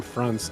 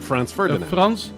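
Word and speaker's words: Franz: we know is the German name France if I write f-r-a-n-z that's that's a guy's name like France France is the guy's name but uh in in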